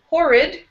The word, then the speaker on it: horrid: And then go down to horrid. Horrid. Horrid. Horrid. Yeah, so first syllable is going to be strong, and then in the second syllable with this I, the letter I, it's an I sound here.